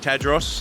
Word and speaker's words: Tadros: Today we're very lucky to have Edmund Tadros. That's how you pronounce it, right?